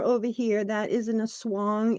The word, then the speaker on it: Aswang: here that is in a swong it's spelled a-s-w-a-n-g but they pronounce the a as an O so the Swang so